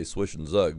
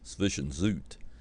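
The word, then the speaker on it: Zwischenzug: Queen H4 that's what's known as a swis Zoot or some people say swiish and Zug but the correct pronunciation I believe is sishan Zoot and um it's an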